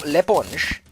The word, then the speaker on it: l'éponge: Because the reason it's l'éponge and not le, it's l'éponge, because it's spelled esponge. And when you have a vowel, you remove the L-E, L-A, it just becomes an L and an apostrophe. So it's Bob l'éponge.